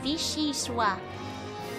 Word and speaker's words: vichyssoise: It's pronounced vichyssoise.